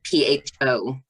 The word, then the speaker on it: pho: It's spelled PHO and pronounced pho. It's at least how I've always heard it pronounced.